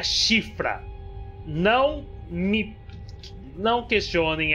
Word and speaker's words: Siofra: por causa daquela TV mas é sim se pronuncia chifra não me não questionem é simplesmente isso mas